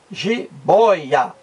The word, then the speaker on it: jiboia: penúltima sílaba e e giboia é uma palavra paroxítona porque a sílaba mais forte está na penúltima aqui ó penúltima sílaba jiboia muito bem então com